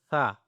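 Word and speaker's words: ث: Simple and then we have tha. Okay, so how to pronounce the tha word, okay? It's uh it's a simple to touch the tip of tongue with the upper two teeth edges.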